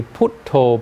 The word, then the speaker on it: buddho: They say putto, putto, if you know. Because they have strange pronunciation of Buddha.